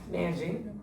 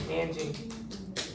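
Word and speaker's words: Nanjing: Naning. Naning. Yeah, that's how you say it. Naning.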